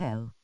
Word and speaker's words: Elle: I think her name is pronounced just L. Oh, Elle Fanning.